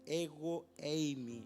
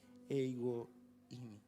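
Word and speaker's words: ἐγώ εἰμι: Esa palabra yo soy es ego eimi, así la pronuncia el Señor, ego eimi.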